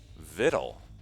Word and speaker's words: victual: victual little picture littles according to this it's pronounced little vittle the sea is silent little z is silent